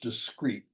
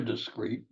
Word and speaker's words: discreet: Two words are pronounced discrete.